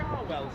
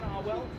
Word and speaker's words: Cherwell: That river is known as the Charwell, spelled Cherwell and pronounced Charwell, as the college is spelt Magdalene but pronounced Magdalene.